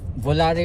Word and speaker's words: Volare: So Volare or Volair, but usually ang pagkakapronounce ito is Volair, no?